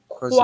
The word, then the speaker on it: croisière: Croisière. Croire, croire, Croix. try again. Croix. croisière, Croisière. Remember, if accent croisière, grave, your voice, sorry, not your voice, your mouth, you open your mouth.